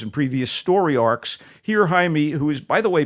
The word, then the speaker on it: Jaime: or Jaime Jaime Reyes we'll call him Jaime let's get the pronunciation proper here Jaime Reyes it looks like Jamie a Mexican-American teenager bonded